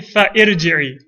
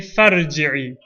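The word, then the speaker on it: فارجعي: We won't say fa'irji'i. We'll say farji'i. We won't say fa'uktub. We'll say faktub.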